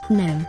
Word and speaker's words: GNOME: Gnome. Yes, I am pronouncing it gnome.